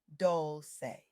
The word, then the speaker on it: Dolce: It's about collective healing and introduced me to the wake up happy sis movement led by Leanne Dolce pronounced dolce like sweet softness whispered in French.